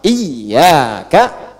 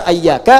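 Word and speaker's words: إياك: Iyaka, iyak iaka. Jangan dibaca ayyaka, jangan dibaca hayyaka dalam salat ya kan.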